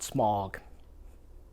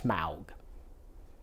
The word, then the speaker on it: Smaug: is Tolkien and uh the dragon is not smog it's Smaug and it's not Gandalf